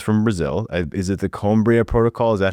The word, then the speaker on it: Coimbra: Is it the Cumbria protocol? Is that how it's pronounced? The Coimbra? Yes. The Coimra protocol.